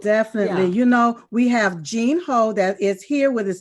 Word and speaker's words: Gene Ho: But it's not Gino, it's Gene Ho.